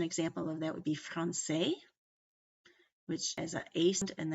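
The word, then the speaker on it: française: of that would be Francaise which is a ace and then it's because the S is silent but when you add an e to it it makes you pronounce the S which then affects the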